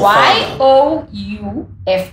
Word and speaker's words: Youff: Well, what F, like, is an F for Y-O-U-F-F. F-F, okay. It's pronounced Youff. So it's like youth, but youth.